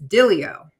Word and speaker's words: Diglio: Well, apparently, no, they actually, I guess the real pronunciation is Diglio. Yeah, it should be, but right. It's a thing. Yeah, totally a thing. Right. The original name of my people had a G in it that totally